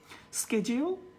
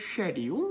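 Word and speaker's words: schedule: স্কেজিউল American, behind American, শেডিউল এটা হবে না, এটা বাংলাদেশি, সো এটা বলতে হবে শেডিউল, এটা ব্রিটিশ, এবং একই সাথে বিহাইন্ড এটা হচ্ছে ব্রিটিশ।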